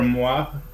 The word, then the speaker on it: Moir: He KOs Englishman Gunnar Moir, or Moir, however you pronounce it. You said it right the first time.